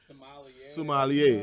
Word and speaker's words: sommelier: What's the correct pronunciation of it? Sommelier. That's it.